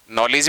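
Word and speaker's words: knowledge: लेकिन देखिए चाहे आप नाइफ में देख लो, नॉलेज में देख लीजिए, नो में देख लीजिए, तीनों जगह के का क्या नहीं आ रहा है, फोन नहीं आ रहा है, साइलेंट आप देख रहे हैं।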